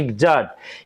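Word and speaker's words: exact: দেখেন এক্স এর পরে এ আছে, এটা কিন্তু জ উচ্চারণ হচ্ছে না, আবার হচ্ছে কস উচ্চারণ হচ্ছে না, এও জ উচ্চারণ হচ্ছে এক্সাক্ট।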